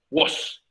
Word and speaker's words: was: Bueno, la palabra se escribe con A, pero se pronuncia como si fuera una O, por si acaso. Was.